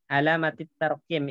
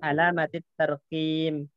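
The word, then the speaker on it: علامات الترقيم: Alamatit tarqim. Itu salah. Yang benar alamatit tarqim. Ra-nya sukun, kopnya yang kasrah.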